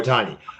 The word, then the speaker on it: Ohtani: I don't want to mispronounce it. Ohtani? Yeah, there we go, Ohtani.